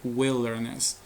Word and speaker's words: wilderness: hiking excursión o caminata y esta palabra wilderness que no es wild grandes sabemos que esto de clase pronuncia como while pero en esta palabra se pronuncia wilderness que viene a ser